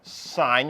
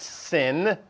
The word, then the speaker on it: sine: CSC is one over sign you're used to calling it sign not sin especially not at our